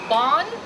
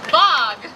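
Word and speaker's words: Waag: And of course, our MC today, Bong? Bong? Bog. Bong. Now listen, John. You mispronounced my name. Bog.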